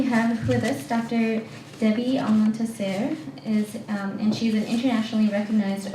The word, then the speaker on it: Almontaser: Debbie Almontaser. Am I pronouncing your last name That's correctly? fine. Okay. You're doing the Arabic version, which is always a treat to hear.